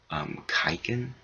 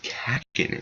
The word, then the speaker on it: Kakin: And I want to state one thing, like, many people have like different pronunciations of Kakin. It's weird, like someone called it like Kaiken. Like people are calling it Kaiken. Someone called it Kakuin. Like, dude, guys, it's Kakin.